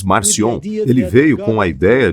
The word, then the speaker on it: Marcion: século chamar e o Marcião o Marciano ou como quer que você pronuncie em outro idioma você terá uma pronúncia diferente mas geralmente você diz marcion ele veio com a